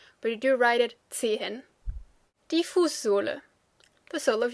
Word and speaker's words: Zehen: fast, you will say Zehen. So it kind of sounds like a little stretched version of the number 10, 10. But you do write it Zehen.